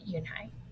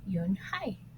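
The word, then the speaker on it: Unhei: you and hi said unai unay the girl asked scrunching up her face some kids chanted oh no you and hi corrected it's spelled u-n-h-e-i it's pronounced Yoon Hai oh it's you hey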